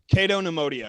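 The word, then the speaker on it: Cato Neimoidia: I'm probably going to mispronounce this. Cato Nemodia? Cato Nemodia.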